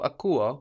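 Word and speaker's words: ακούω: So akuo also counts as a verb with its accent on the ending, even though we have uo there, and the accent on the u.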